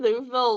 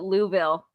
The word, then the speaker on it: Louisville: Going through Louisville, like, security was a breeze. Wait, you pronounced Like, it wrong. super- They pronounced it Louisville.